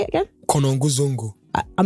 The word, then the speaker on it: Konongo Zongo: So I moved from where I was, Konongo Zongo. Okay. That's where I'm from, Konongo Zongo.